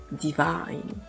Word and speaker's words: divine: de la même façon divin divine vous entendez tout de suite la la différence et en anglais on